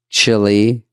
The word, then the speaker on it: Chile: You're saying it wrong. Chile. Chile.